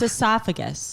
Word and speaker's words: esophagus: I think you're both saying it wrong now. It's esophagus.